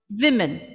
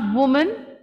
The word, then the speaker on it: women: one that we had women not women women women women yes then after